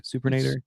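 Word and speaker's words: supinator: Did I pronounce that correctly, Luke? Supernator?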